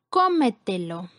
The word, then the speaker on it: cómetelo: Siguiente ejemplo, cómetelo. Cómetelo es una palabra con 4 sílabas. La sílaba con mayor fuerza es antes de la antepenúltima sílaba.